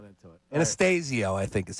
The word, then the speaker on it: Anastasio: Yeah, Anastasio.